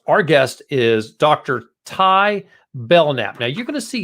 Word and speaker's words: Belknap: like his name is Belknap. I'm so glad we talked before the show. He told me his name is Belknap. The K is silent, and he's with Port Bell SEO.